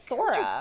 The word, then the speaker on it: Sara: that that's kojo sara oh they're pronouncing it sora anna the tenrio commission she's